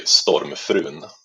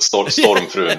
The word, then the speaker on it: Stormfrun: Well, in Swedish it would be Stormfrun. Okay. And the rest of us pronounce it wrong. But Stormfrun or something. Yeah, well, you could say it either way you want, but Stormfrun would be the right way to say it.